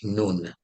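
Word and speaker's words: نون: that's the word for the letter N in Arabic noon I could say n o o n or I can say n-u-n you know as long as you pronounce it correctly it's fine but I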